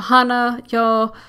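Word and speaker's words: Hanayo: is hana yo yeah hana yo Koizumi by the way if you think I'm saying these names wrong I'm pronouncing it based on how they technically would be pronounced in japanese if for those who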